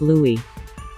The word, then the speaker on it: Louis: Justine pent adding that his name is pronounced Louie just like The Little Prince of Cambridge or perhaps she's a